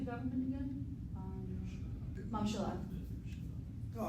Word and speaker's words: ממשלה: Mamshala.